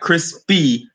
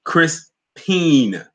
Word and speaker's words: Crispine: Not crispy, Crispine. It's spelled Crispine.